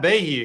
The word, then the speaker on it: Bahe: However, we've got Krste, Zappy, and Bahe here. Is it Bahe or Bahe? It's Ba. It's Bahe? No, it's just Ba. Like the It's E's not Ba. there. Ba. So the E is silent.